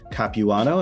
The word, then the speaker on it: Capuano: Her name is Nicolette Capuano. Am I pronouncing your name correctly?